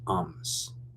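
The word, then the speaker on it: أمس: Oh, in modern standard Arabic, it's ams.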